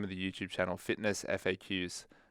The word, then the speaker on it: FitnessFAQs: of the youtube channel fitness faqs or fitness facts is also how it's pronounced as well but i'm excited for